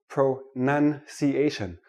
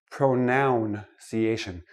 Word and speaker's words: pronunciation: we're looking at pronunciation let me start with this word pro none see asian not pronoun CA shin it is not a pronoun a pronoun is I me my mind pronunciation is how we speak English so I'm going